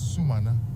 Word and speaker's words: Sumana: You know, yesterday I learned from the speaker that his name is Sumana. You know, and sometimes we in the media mispronounce the names of people a lot.